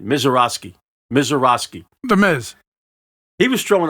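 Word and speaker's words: Misiorowski: This Jacob Mizorowski, let me pronounce it right. Mizorowski.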